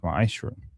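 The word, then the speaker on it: מעשר: It means 10th in Hebrew, and it's pronounced ma'ashra.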